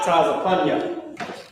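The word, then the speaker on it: Tzefanyah: Yep, Tazapunya. This is how you say Zephaniah. It's Tazapunya. Okay, Tazapunya, and that's how you say Zephaniah.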